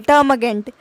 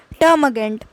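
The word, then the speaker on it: termagant: मैंने लिख रखा है टर्मगेंट, लेकिन यहाँ पे एम के बाद आ साउंड आएगा कनेक्ट करने के लिए, टर्मगेंट, टर्मगेंट, टर्म और गेंट अलग अलग, और साथ में टर्मगेंट,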